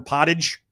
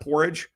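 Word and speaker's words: potage: some very I got corn pottage which is how they say it not porridge uh an American hamburger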